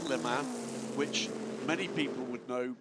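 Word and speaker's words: Léman: Le in the terms of the name of the team is not lemon the race. It is Lake Leman which many people would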